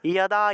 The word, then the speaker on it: যদা: তাহলে যুদ্ধ থাকলে যুদ্ধ যুদ্ধ, যোগী থাকলে যোগী যোগী, যদা যদা হি ধর্মস্য থাকলে ইয়াদা ইয়াদা হি ধর্মস্য, এইভাবে উচ্চারণটা হবে।